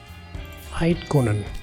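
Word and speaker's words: Eydtkuhnen: With this, we no longer have to fear competitors between Paris and Eidkunen. Aitkonen.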